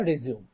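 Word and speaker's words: résumé: to make রেজুমে বা রেজিম সাধারণত এটা যে ব্রিটিশ আমেরিকান দুই ধরনের উচ্চারণই আছে কেউ রেজিউম বলে কেউ রেজুমে বলে সাধারণত এটা রেজুমে না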